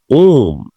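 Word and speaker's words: womb: আসুন আমরা আরো কিছু সাইলেন্ট বি যুক্ত শব্দ দেখে দিতে পারি। হিয়ার ইউ সি ওম, গর্ভ, গহ্বর।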